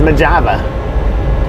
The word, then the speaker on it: Mojave: I do know how to pronounce it. So, it's Maja.